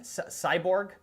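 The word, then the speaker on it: Sayburç: Cyborg is how they pronounce it, I believe.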